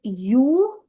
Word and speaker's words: European: But I will not be doing that because when I'm pronunciating it, it is European. So it begins with Y, European. So it is giving a consonant sound.